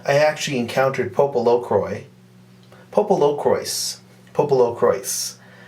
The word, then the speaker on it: PoPoLoCrois: actually encountered popolo croy popolo croise popolo croise they pronounced it popolo crois in the psp game